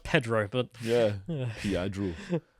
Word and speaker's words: Pedro: from pia pet pee pedo sanchez well he's left wing so he's definitely a pedo a minor attracted person believe it's pronounced pedro but yeah yeah i